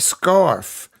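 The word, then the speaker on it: Scarfe: You don't pronounce the e at the at the end of scarf.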